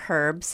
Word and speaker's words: herbs: okay this is true what about herbs or herbs however I've heard it pronounced both ways um are they good